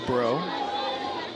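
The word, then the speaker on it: Breaux: I I love that name, Bro. And it's spelled It's got a Cajun flare to it. A French flare to it. It's B R E A U X.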